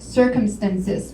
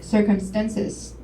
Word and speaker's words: circumstances: a word stress error there's a word circumstances that tan said circumstances the stress is on first Sy could you repeat that